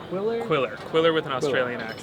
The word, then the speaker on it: Qwilr: hey everybody I'm here with gray and honey pronounces Quiller so yeah so what'd you guys do Quiller is a document creation tool basically made to